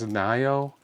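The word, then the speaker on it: Ngaio: It's spelled N G A IO. And I think it's Nio.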